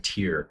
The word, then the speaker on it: Tyr: that tyr tyr trigger I'm not Nordic so forgive me if my Nordic god pronunciation is inaccurate but I'm going to go with tear qyr but to your